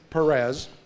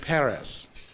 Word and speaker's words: Perez: And so she tells me that the way to really pronounce it is to think of a city in France and say Judge Paris.